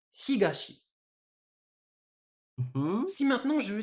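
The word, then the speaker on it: 東: Comme il est tout seul, j'utilise bien la lecture purement japonaise et du coup je prononce ça higashi.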